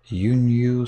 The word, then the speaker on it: 輸入: Nippon ni takusan yunyu sareru yo ni narimashita. I think that means, so they were imported. Yunyu. So the first syllable is just short U and the second U, new U.